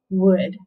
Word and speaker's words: would: there in the middle would would you like to go to the part o u says uh and there's that l that we don't pronounce and but the w